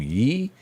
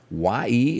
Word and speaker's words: Ye: pronounce this one wrong ye y e is what he calls himself now ye he said that